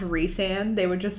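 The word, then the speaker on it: Rhysand: people that were saying rice and like the die hard a court of thorns and roses fan that knew that it was pronounced re-sand they would just like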